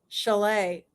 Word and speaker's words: Chalet: Chalet. Have you ever had that joke, ever had that connection with pronouncing it chalet and thinking of the house chalet, a mountain cabin?